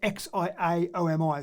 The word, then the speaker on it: Xiaomi: in the world and it's spelled x i a omi so i put out xiaomi and they believe that